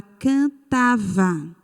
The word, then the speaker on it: cantava: A outra palavra que eu peguei lá daquele quadro foi a palavra cantava. A sílaba tônica desta palavra é tá. Tá. E ela é qual? Ela é a penúltima.